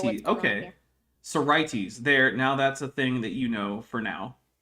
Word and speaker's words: Sorites: Wait, are you sure it's a schwa if that's the actual if the first syllable is the one with the primary stress and that's where we're actually putting the schwa? Because primary stress schwa is very rare. But I mean, I guess I can't say it doesn't happen.